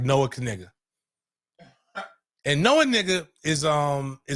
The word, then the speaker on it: Knigga: don't know what the Kniggas stand for. These Kniggas stand on business. Well, we thought the K was silent. Luckily, it's not.